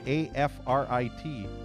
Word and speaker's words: Afrit: Yeah, you would think it's an Afrit, but apparently it's an Afrit because it's spelled A-F-R-I-T. That's right. So apparently it's a Frit, not E-Frit.